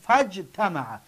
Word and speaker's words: فاجتمع: لیکن در بین جمله باشد می نویسیم لیکن نمیگوییم، میگیم فجتمع، یعنی نوشته میشه تلفظ کرده نمیشه.